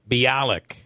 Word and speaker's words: Bialik: But I think her name is Bialik. Bialik. Yes. What I say? Yes, it is. I think you butchered it.